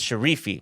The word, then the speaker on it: Sharifi: Sher Shere, sorry, his name is Sharifi. I said it wrong earlier.